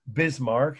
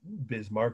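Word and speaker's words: Bismarck: the project by which bismar and it's pretty much just like it sounds bismar b i s m a r k but you don't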